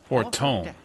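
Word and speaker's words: Fortemps: Fortom. That's how you pronounce that.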